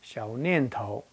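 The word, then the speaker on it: 小念头: Now, the first form, Xiu Nian Tao, in Putonghua is pronounced Xiao Nian Tao.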